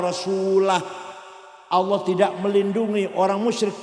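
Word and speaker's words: وَرَسُولُهُ: Wa annallaha bari'um minal musyrikina wa rasulih. Allah tidak melindungi orang musyrik dan tidak melindungi Rasulullah. Salah. Karena baca wa rasulih. Yang benar bacanya wa annallaha bari'um minal musyrikina wa rasulah.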